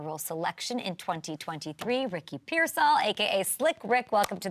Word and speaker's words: Pearsall: Everybody kind of butchers it, but it's Pearsall. That's how you pronounce it.